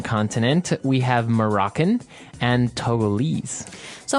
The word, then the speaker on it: Togo: Um but when we talk about the country Togo Mhm. what do we call a person from that country? Toggle. Toggle. Okay. So it's Togo.